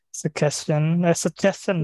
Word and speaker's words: suggestion: Suggestion bacanya ya. G-nya itu baca C.